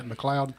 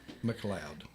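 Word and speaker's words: MacLeod: Gavin McLoud is it is that how it's pronounced yeah McLoud McLoud see I learned something today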